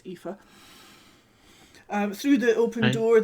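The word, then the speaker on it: Aoife: brano and um epha epha is spelled just to be really confusing a o i f e pronounced epha um through the open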